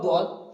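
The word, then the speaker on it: ضاد: তারপর আসছে সদ, সদটা উচ্চারণ করতে হবে সদ, দদ, এই দুটো অক্ষর এখানে এঁকে দিয়েছি দেখুন।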